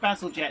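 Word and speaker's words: Bazalgette: It's pronounced Basil Jet.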